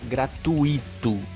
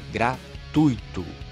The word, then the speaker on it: gratuito: mesma coisa que gratuito não é gratuito é gratuito não é rubricar é